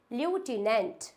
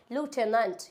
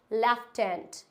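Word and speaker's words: lieutenant: ल्यूटिनेंट, बट ये ल्यूटिनेंट नहीं होता है। इसको हम, अगर मैं बात करूँ अमेरिकन की, तो अमेरिकन में हम इसको प्रोनाउंस करते हैं लूटेनेंट। क्या होता है? लूटेनेंट। अगर मैं बात करूँ ब्रिटिश की, तो in British language we कैन say that लेफ्टिनेंट।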